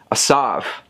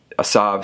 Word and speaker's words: Asav: over here i want to make sure i pronounce it asav which is the antagonist of this game looks